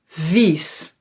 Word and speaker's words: vies: vis short vies. So that's i plus a is ee the long ee.